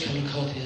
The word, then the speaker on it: Calacotti: I'm Calacotti, as John said. I'm very impressed you got the pronunciation of Calacotti right. There are many various versions of it, but that's the correct one.